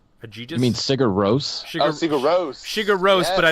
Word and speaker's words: Sigur Rós: Agis Brunner. I don't know how you say that. Agigis. You mean Sigur Rós? Sigur Rós.